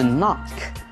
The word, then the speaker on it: knock: hear something，就听到这件事情非常的遗憾。昨天我们家出了一点事情意外。Wow, I'm sorry to hear that。听到这样的事情，我感到很抱歉。接下来这里有一个字是 knock，敲门的 knock，K-N-O-C-K。双子音的 K-N 的组合呢，K 是不发音的，都是发 N 的音而已。所以呢 knock。K-N 的 N 发音，K